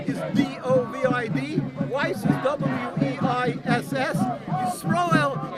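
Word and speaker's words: Yisroel: My name is, with God's help, Rabbi Yisrael David Weiss. That's Y-I-S-R-O-E-L. David is D-O-V-I-D. Weiss is W-E-I-S-S. Yisrael is the Hebrew pronunciation of Israel.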